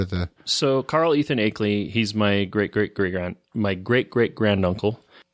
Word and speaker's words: Akeley: Akeley, yeah.